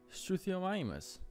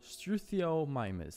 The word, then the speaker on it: Struthiomimus: gonna start off with a nice family of struthiomimus struthiomimus that's exactly how you pronounce it look at me I was actually